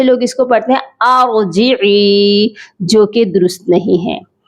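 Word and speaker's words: ارجعي: ارجعی الی ربک راضیۃ مرضیہ. اس کے سپیلنگ کرتے ہیں.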